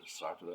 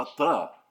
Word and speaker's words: Sartre: I would say Jean-Paul Sartre, or Sartre, and she would say, Sartre, Sartre. Yeah, well, fine, and I'm